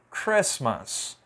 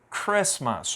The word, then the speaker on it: Christmas: é a palavra Natal Christmas Christmas ó não falei Christmas eu não pronunciei essa letra T então nessas palavras aqui